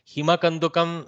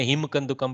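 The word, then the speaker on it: हिमकन्दुकम्: हिंदी में जो आपका क्या होता है ना, हिंदी पढ़ के बीच में आप हलंत उच्चारण कर देते. हिमा कंदुकम समान रीतिया हिंदी में भी लिखते हैं, लेकिन हिंदी में हिम कंदुकम पढ़ते हैं हम लोग. संस्कृत में हिमा कंदुकम इति पढ़ते हैं.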